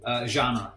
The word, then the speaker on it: Genre: Genre, like a genre.